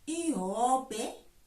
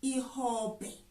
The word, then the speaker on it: ihobhe: Now, we may not all agree on how it's pronounced, so I'm going to tell you the two pronunciations. Ihobhe and ihobhe. Those are the two pronunciations. I go with ihobhe.